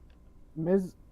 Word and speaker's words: Mes: Um, Miz Mes, not Ms. Miz.